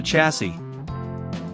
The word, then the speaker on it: chassis: this is called the chassis this is a funny looking word and the last s is silent when you refer to